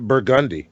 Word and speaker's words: Burgundy: Like there's a street called that is spelled Burgundy, but we call it Burgundy. Burgundy.